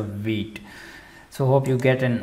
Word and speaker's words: Vite: white uh vgs so many of the developers pronouncing this as white but this is not white it's a wheat so hope you get